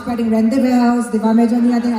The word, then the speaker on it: Rendezvous: Medyo mahirap siya i-pronounce. Pwedeng rendezvous, di ba?